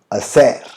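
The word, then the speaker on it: hacer: ये हमने last video में पढ़ा था, मैंने आपको बताया था कि स्पेनिश में अगर कोई वर्ड एच से शुरू होता है तो एच क्या होता है? साइलेंट होता है। तो इसका प्रोनाउंसिएशन कैसा होगा? असेर। भले उसको बोलेंगे हम लिखेंगे हसेर, लेकिन बोलेंगे कैसे? असेर। एच को साइलेंट रखते हैं।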